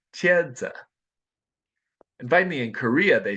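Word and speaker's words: 茄子: something like CH and in China they say eggplant which is pronounced chedza and finally in Korea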